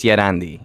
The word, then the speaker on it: Llerandi: pretty easy at lorandi those are two L's and two L's not an I just a one of them is silent which one Spanish is yandi you know yeah drop